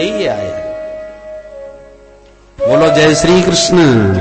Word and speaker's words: कृष्ण: बोल ना पावे बचारे कृष्ण शब्द का शुद्ध उच्चारण सब लोग नहीं कर पाते बोलेंगे किशन भारत का प्रसिद्ध शहर